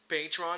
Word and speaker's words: patron: It's funny because in French, patron is actually pronounced patron, and it means boss.